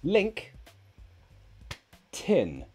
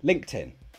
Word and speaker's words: LinkedIn: do you pronounce it so link think of it as two words link tin TI n link tin LinkedIn that's how you pronounce that do you use